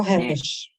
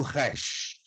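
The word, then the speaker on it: ר: O Resh. Shem. Resh. O Resh é pronunciado como R, não em português, mas em espanhol como rato.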